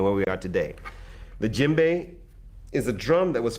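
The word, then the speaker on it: djembe: to you a lot about is called the jimbei now the jimbei is spelt d j e m b e this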